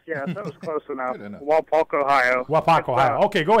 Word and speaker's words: Wapak: Mike in Wapak, Ohio. Welcome. Did I pronounce the name of your town correctly? Real close. Yeah, that was close enough. Wapak, Ohio.